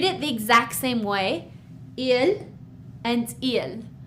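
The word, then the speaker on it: ils: Yes, I know that there's an s after il, but we still just say ill. So we read it the exact same way. ill and ill. We don't pronounce the s.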